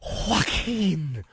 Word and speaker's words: Joaquin: why he stinks Oh Joaquin Oh anybody with a silent J in the beginning of their name Joe Walker gonna stink